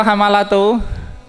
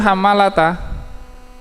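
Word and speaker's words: حمالةَ: Hamalata hamalatu hamalatal hamalatal hab wamroatuhu hamalata mroatuhu marfu atof kepada Abu Lahab gitu ya saya selaon wamroatuhu hamalata ya hamalata bukan hamalatu tapi apa hamalata Mata mestinya kalau ini naat untuk imraatuhu kalau diikutkan apa?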